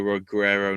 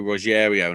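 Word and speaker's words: Rogério: Headlined by Ryan Bader taking on Antonio Rogero Nogueira. Oh, sorry, Antonio Rogerio Nogueira, because those two guys' names are very similar.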